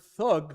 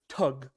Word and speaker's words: thug: The word thug, we pronounce it thug. The Indians pronounce it tug. Okay. They don't pronounce the H.